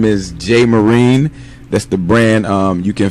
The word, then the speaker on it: JMoreen: from understood alright alright so my name is Jay marine that's the brand you can find me on